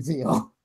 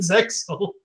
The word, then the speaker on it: Zexal: It's actually Zeal. The X is actually non-existent. Yeah, you don't pronounce the X in Yu-Gi-Oh! Zexal, except when everyone in the dub calls it Zexal.